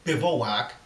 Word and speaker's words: bivouac: Now, I know some people pronounce it Bivouac, but I've always pronounced it Bivouac without the O, so you'll just have to bear with me.